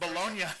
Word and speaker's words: Bologna: Bologna, that's the pronunciation of the place in Italy.